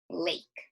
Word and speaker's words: lake: week, we learned that sometimes there's a silent E at the end of a word that goes above that letter to the vowel, the A, E, I, or U, and makes it say its long vowel sound. So it's not L-A, it's L-A, acorn, a long A sound, the one that says its name.